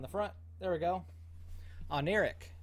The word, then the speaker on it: Oneiric: front there we go on Eric is how you say that apparently and and yeah so